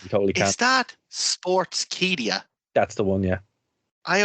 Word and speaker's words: Sportskeeda: Is that Sportskeeda? That's the one, yeah. I always pronounce it as Sportskeeda.